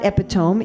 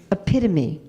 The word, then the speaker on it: epitome: It's it's not epiome. It's epitome. Epidemi. It's epitome. I know it's spelled like epone.